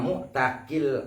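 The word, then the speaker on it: مُعْتَق: alal muktikil sayyidi wa muktakil abdi. Jadi muktik yang pertama itu bil kasr, muktak yang kedua itu bil fathah, karena berpengaruh terhadap makna.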